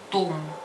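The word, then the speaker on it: ثوم: Чеснок называется том.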